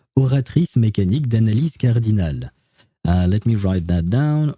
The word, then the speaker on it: Oratrice Mécanique d'Analyse Cardinale: Well, I should probably pronounce it with the actual French accent. Oratrice mécanique d'analyse cardinale.